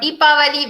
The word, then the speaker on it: Deepavali: clears the confusion about Deepavali versus Yeah.